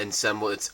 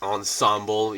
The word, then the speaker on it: ensemble: one comment saying that it's not in semblance ensemble yeah I get that because even in Korea we call it ensemble and I was I didn't really know how the English the so-called English pronunciation was but thank you for